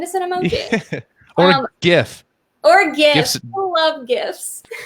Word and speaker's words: GIF: Is it a GIF or a GIF? I think it's GIF. Let's not start that battle. Classic argument. I'm going with GIF though. Hard G. GIF.